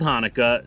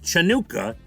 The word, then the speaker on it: Hanukkah: video but they spelled hanukkah the there's two ways with an h or a ch they spelled it with the ch so he pronounced it chanukah he had no idea it was hanukkah so he kept saying